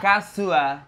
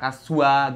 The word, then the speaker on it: kasua: Kasua. Itu A-nya jangan terlalu dibaca. Kasua gitu.